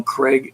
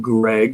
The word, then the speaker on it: Craig: you who don't know craig is my real first name but um and not like there's a bunch of craigs around but uh you know if you're sloppy on the pronunciation it may sound like greg and we have several of